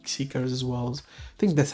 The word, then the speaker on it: Xikers: Again, if you like 80s, I don't see why you will like Xikers as well. I think that's how you pronounce his name, right? Xikers, yes.